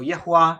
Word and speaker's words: Yahweh: That's a translation of the covenant name of God, usually wrongly pronounced Yahweh. It's Yahweh in almost every context in the Hebrew Bible. So Yahweh is the right way to say it.